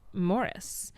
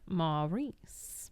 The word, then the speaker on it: Maurice: Um, I'm sure because his real life insistence that his name be pronounced Morris was at odds with his on-screen character's pronunciation of Maurice.